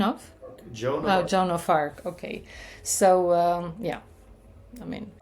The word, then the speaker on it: Joan of Arc: Joan of Arc.